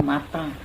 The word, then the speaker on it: matin: Matin dibacanya mata.